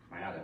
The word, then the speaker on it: Maiara: Hey guys, again, if you're jumping on just now and you haven't heard, Maiara, right?